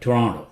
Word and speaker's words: Toronto: in Canada okay Toronto people who live in Toronto they call it Toronto this tea is not very clear Toronto Brazil not Brazil Brazil